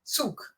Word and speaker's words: Zug: Zug. It's Zug. more like a TS, yeah.